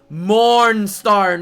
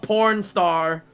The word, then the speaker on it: Mornstar: Mornstar, not porn star.